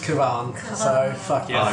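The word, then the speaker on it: Kavan: I originally read R. Kavahn. Cabin. Kavahn. Yeah, but it's Kavahn. pronounced Kavahn.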